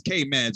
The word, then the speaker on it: K Meds: K Med, because I've been saying your name wrong this whole time. Man, he never corrected me. But it's K Meds.